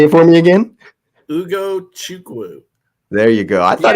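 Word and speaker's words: Ugochukwu: You got to pronounce his name. Say it for me again. Ugo Chukwu.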